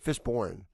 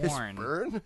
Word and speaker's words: Fishburne: Fishborn. It's What? Fishborn. Yeah, definitely. Get Like- the fuck Yeah, look outta at the spelling. It's I've never heard of Bourne. Yeah, Born. Fishburne.